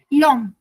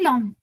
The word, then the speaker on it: l'homme: या long L'homme. Simply l'homme. Why? Because H is silent ना? या So l'homme.